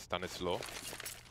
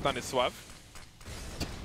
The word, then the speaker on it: Stanisław: I believe it's Stanislaw. In Polish, it's pronounced Stanisław.